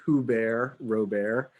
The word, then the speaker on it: Hubert Robert: froggenard is a guy named who bear robert and it's spelled hubert robert just if you just